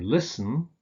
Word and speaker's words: listen: you don't pronounce it similarly with words like christen and listen where you don't pronounce the T there's no T here